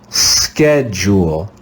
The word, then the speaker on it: schedule: read this word together you can see in this word the digraph ch here we'll read it just as we read it in the word school let's read this word together jewel schedule schedule schedule do you